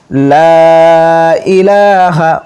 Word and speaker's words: লা ইলাহা: উচ্চারণ গুলো লক্ষ্য করুন লা ইলাহা অবশ্যই টান দিতে হবে টান না দিলে অর্থ পরিবর্তন হয়ে যাবে লা ইলাহা ইল্লা আনতা